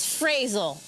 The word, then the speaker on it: Frasal: Fraz FR FR Fraz frazzle we call him frazzle cuz it fits his personality but the correct pronunciation is frasal frasal back into six now